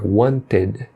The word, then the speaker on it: wanted: O correto é um som de ed. O meio termo não é nem ed, por exemplo, wanted, e nem wanted. Tá no meio termo, é wanted, wanted, needed, started, decided, invited, ended.